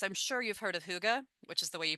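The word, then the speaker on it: hygge: So they have things I'm sure you've heard of huga, which is the way you pronounce the h y g.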